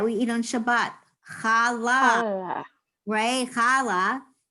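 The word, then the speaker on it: challah: eat on shabbat ray khala the hay on the end is silent right and when we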